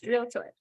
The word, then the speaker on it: realtor: It's like a PSA, like just 2 syllables, realtor.